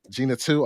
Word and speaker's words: Gena Tew: uh then we're going to speak about Jenna Gina toe am I pronouncing her her name right Gina yeah Gina too okay and we got a couple of other